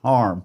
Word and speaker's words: Hiram: It's Hiram, but his family pronounced it Harm.